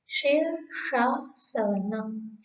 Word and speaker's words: शीर्षासन: सामने एक शब्द है शीर्षासन। इस शब्द के अंदर तीनों शकार एक साथ दिए हुए हैं। पहला है तालव्य शी, दूसरा है मूर्धन्य श, तीसरा है दंत्य स। शीर्षासन।